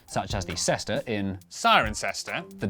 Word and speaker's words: Cirencester: But before you get too reassured, for every rule in the English language there are always exceptions, such as the cester in, Cirencester.